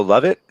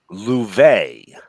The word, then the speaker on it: Louvet: Mario Lovett. Maria Louvet. Maria Louvet. Yes. It's pronounced Lou. I'll punch you in the fucking face, Vey.